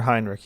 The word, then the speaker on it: Henrik: Is it Henrik or Heinrich? You want to pronounce it? It's Henrik. Henrik.